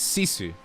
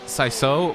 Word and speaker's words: Sisu: It's Sisu. Not what I said last time, which was like, I think I either said Saiso or Kiku or whatever.